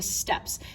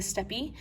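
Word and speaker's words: steppe: this area called the steps now we've heard the steps before um it could also be perfectly pronounced the steppi i say step when the non-indigenous people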